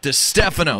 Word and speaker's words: Distefano: say your last name properly it's Chris stefano de Stefano that sounds where you go and Carly what